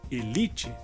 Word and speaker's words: elite: Essa palavra em espanhol seria élite e em português seria elite. Nesse caso, a diferença seria que em espanhol a sílaba mais forte seria a inicial, que seria e em português li.